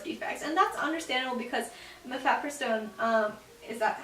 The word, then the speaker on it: mifepristone: And that's understandable because mifepristone, is that how you say it? Yeah, mifepristone, without effective enough progesterone in the body, the embryo won't have enough resources to grow effectively.